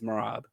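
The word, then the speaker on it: Merab: I just see these guys and obviously Morav Morav's Morab. Do I I don't even have to say his name. We all know Morab who beat these guys. It's Morab.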